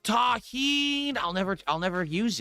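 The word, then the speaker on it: tahini: It's pronounced taheen.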